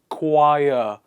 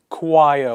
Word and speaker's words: choir: d and g words the next one in the list is silent h ache not ache it